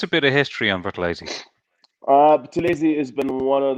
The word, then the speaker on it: Buthelezi: But let me get the pronunciation correct now. Buthelezi.